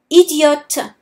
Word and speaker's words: idiote: However, if I'm speaking about a girl, I would add an E at the end of the word. Idiote. Idiot for a boy. Idiote for a girl.